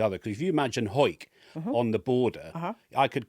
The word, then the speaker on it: Hawick: So, Henry, the point I'm making Just wanted to say Hawick, didn't you?